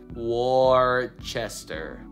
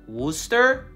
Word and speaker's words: Worcester: this word we're sister that's common popular pronunciations where sister War Chester I don't like any of them prevailing local prioritization Wooster are you serious Worcester